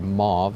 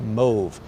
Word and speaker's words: mauve: pure move I think I usually used to pronounce that word mauve and then I think I learned that was not correct move brownish purple so you know there's it